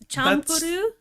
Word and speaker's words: Champloo: Champloo. You know, I'm not sure how to pronounce it. I always heard Champloo. Champuru? That's another one.